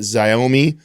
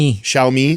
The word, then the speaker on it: Xiaomi: Xiaomi Xiome Pro 17 Pro Max. Xiaomi.